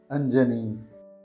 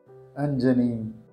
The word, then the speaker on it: Anjani: This is how we pronounce the name Anjanee. Anjanee. Anjanee.